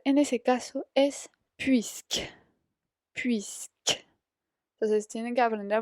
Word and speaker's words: puisque: Puisque. Entonces tienen que aprender a pronunciar bien esa palabra.